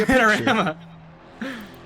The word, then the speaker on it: Panorama: You were gonna say it right the first time, and then you corrected yourself wrong. Really? Yes. Panamora? No, Panorama. You said Panorama.